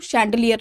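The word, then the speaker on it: chandelier: इसका जो प्रोनाउंसिएशन रहेगा वो शैंडलियर रहेगा।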